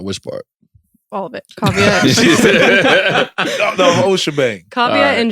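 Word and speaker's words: Kaavia: So we put it together and added an extra A so people can pronounce it, right? And there you got Kavya.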